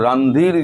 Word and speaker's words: রণধীর: ভারত বলেছে রণদীর জয়সোয়াল আপনারা ভুল উচ্চারণ করেন। ওনার নাম হচ্ছে রানধীর জয়সোয়াল।